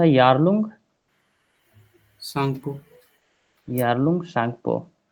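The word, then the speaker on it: Tsangpo: इसका नाम था यारलंग सांगपो यारलंग शपो सेंगपो का स्पेलिंग टी से स्टार्ट होगा।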